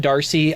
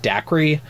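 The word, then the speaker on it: Dacre: pronounced different ways but his first name is d-a-c-r-e Darcy I've always said Darcy I've heard it pronounced Daiquiri I don't know what's right but Daiquiri stoker or Darcy stoker blood descendant wrote a prequel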